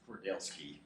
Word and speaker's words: Kordelski: Kordelski. Oh, we said it right there. Well played, sir. Very few people pronounce it right the first time. Yes. Last names with 3 syllables are okay. Kordelski. Yes. 3.